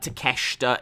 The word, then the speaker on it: Takeshita: it's not that uh it's uh takeshita is how they pronounce it uh but uh uh clearly when you first see it you do uh read it that way uh master chief said